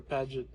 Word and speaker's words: Pagid: Some people will pronounce them Pagid or Paget.